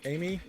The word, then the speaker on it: Ai: girl number five here AI or am Amy almost almost certainly this would be pronounced Amy in fact a lot